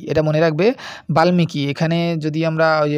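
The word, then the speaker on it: বাল্মীকি: রামায়ণের রচয়িতা হচ্ছে বাল্লিকী। এটা মনে রাখবে বাল্মিকি। এখানে যদি আমরা ম উচ্চারণ আছে তো বাল্মিকি হয় উচ্চারণ আর কি।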